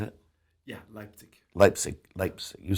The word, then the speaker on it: Leipzig: Yeah, Leipzig.